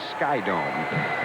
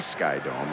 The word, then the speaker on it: SkyDome: Thorne and myself will be at Skydome. It's not the Sky Dome. I've been told it's not the Sky Dome. It is Skydome next Wednesday.